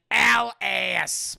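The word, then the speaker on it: Alisaie: alphanod pronounced alphanon and al-ass pronounced alas and they're very strict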